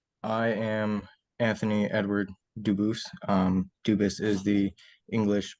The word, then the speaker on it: Dubus: I know a family with that same exact spelling in American, they do pronounce it dubis, but you said you pronounce it dubus as the original dubus as the original French.